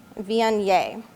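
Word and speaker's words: Viognier: to wines we have first up our mcpherson vianye so an easy way to remember how to pronounce this grape is v-n-a so just easy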